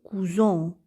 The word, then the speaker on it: cousons: ajoute un S et puisque le S se trouve entre la voyelle U et la voyelle o donc il va se prononcer je et on obtient nous cousons vous cousins elle cousin